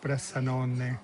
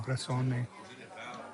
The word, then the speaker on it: Bressanone: I got the name of the place that I went to yesterday wrong. Bressanone. I kept saying Bressone. Somebody corrected me on YouTube.